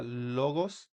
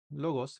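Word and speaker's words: λόγος: La que le sigue es una lambda y se pronuncia como una l en español, como en la palabra logos. Logos. Entonces, se pronuncia logos, ¿verdad?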